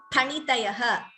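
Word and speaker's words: फणितयः: Please note the pronunciation of this letter. It is Pha. It is not Fa. It is Phalam. Phanitayaha. There is no Fa in Sanskritam.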